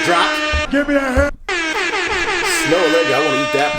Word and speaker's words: Snoh Aalegra: Snoh Aalegra. Music drop. Give me a hand. Snoh Aalegra, I want to eat that pie for sure.